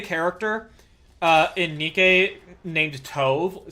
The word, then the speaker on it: Tove: Uh, and you know, like it's supposed to be pronounced like tove or tub, you know, like dove, but the English direction has them pronounce it as tu for no reason.